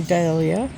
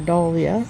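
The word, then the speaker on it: Dahlia: Things are going to start to bloom like my Dalia or Dalia, depends how you say it.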